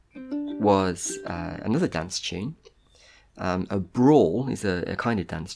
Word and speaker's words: branle: A brawl is a kind of dance tune. It's spelled like Branle, but it's pronounced brawl, apparently. Nothing to do with like fighting brawl.